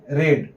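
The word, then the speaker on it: read: ग जाता है और जैसे रेड रेड स्पेलिंग से ही होता है लेकिन इसको हम बोलेंगे रेड तो जब हैव हद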